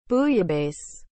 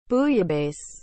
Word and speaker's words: bouillabaisse: what is the meaning of the word booyah base as a noun highly seasoned mediterranean super stew